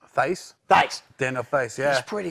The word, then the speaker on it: Theis: Daniel Thias? Theis? Theis.